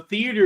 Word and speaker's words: theater: of us in the theater were sharing the anxiety. I like how you say theater. You put theater. There's one extra syllable in it with the way the Southerners say it.